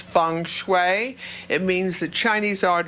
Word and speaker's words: feng shui: We're going to be talking about feng shui, and even though it's pronounced Fengshi, it's spelled Fengshi, it's pronounced feng shui.